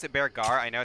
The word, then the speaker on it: Bearger: Isn't Beargar pronounced Bearger? Like the end is some ending as Badger? I don't know. Bearger? I pronounce it Beargar.